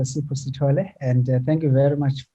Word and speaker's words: Sipho Sithole: Yes, it is Dr. Sipho Sithole.